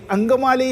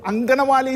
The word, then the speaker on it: അങ്കമാലി: പലരും ഓർക്കുന്നത് അദ്ദേഹം ഈ അങ്കമാലി ശബരി പാതയെ കുറിച്ച് പറയുമ്പോൾ അദ്ദേഹത്തിന് ഈ സ്ലിപ്പ് ഓഫ് ദ ടങ്ങ് ആയിട്ട് നമ്മൾ ആ ഉച്ചാരണം വരുമ്പോൾ എപ്പോഴും അദ്ദേഹം ലോക്സഭയിലും പുറത്തും അങ്കനമാലി ശബരി അങ്കനമാലി അങ്കമാലി ശബരി എന്നുള്ളത് അപ്പോ ഞങ്ങൾ പലരും ചിരിക്കുമായിരുന്നു